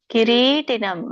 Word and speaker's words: ಕಿರೀಟಿನಂ: ಒಂದು ಉಚ್ಚಾರಣೆ ಈತರ ಬರುತ್ತೆ ಕಿರೀಟಿನಂ ರೀಕೆ ದೀರ್ಘ ಇದೆ ಕಿರೀಟಿನಂ ಗನಂ ಚಕ್ರಿಣಂಚ ತೇಜೋರಾಶಿಂ ಎಳಿಬೇಕು